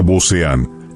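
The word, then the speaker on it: Beauséant: Su bandera, el Booséan, que se pronuncia boz-E-an, que significa negra y blanca, infundía terror en sus enemigos y esperanza en sus aliados.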